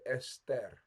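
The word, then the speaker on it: אסתר: star in Persian um in Hebrew we say Ester EST EST right alic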